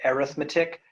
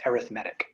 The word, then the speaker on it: arithmetic: Or now normally we'd pronounce that arithmetic, but it's as an adjective, it's arithmetic.